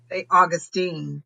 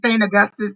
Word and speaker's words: St. Augustine: St. Augustine. Saint I kept saying St. Augustus too. It's St. Augustine.